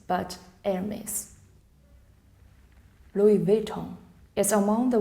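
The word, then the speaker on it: Hermès: To pronounce this label, just remember the H is silent, not Hermes, but Hermes.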